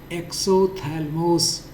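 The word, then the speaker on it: exophthalmos: इसको एक्सोथैलमोस पी एच यहां पर साइलेंट है। जैसे नाइफ में के साइलेंट रहता है।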